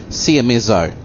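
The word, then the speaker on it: Seiemmezzo: a half I can't work out how to pronounce it cmezzo s-e-i-e-m-m-e-z-z-o siameso nice and easy this one I've been riding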